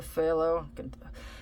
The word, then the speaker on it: phthalo: the phthalo pho okay if you see it it's it's spelled PHT Alo something like that it's it's with a f the pH is like a f sound like as in farm that should help you